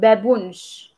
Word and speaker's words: babunj: So I think babunj is not hard for pronunciation, it's just like it has vowels, it has the normal consonants, like consonants, so yeah.